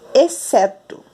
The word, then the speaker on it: exceto: Aqui nós falamos exceto. Exceto. Então, nós não ouvimos o som do X. Duas letras, apenas um som.